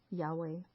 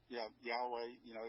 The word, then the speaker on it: Yahweh: you see that it means the divine name Yahweh? Yeah, Yahweh. It's how it is pronounced.